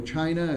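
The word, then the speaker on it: Qin: then you move into China again they're very interested in organizing and bringing together their country uh the emperor kin which is pron pronounced chin and that's where the word China comes from he involved the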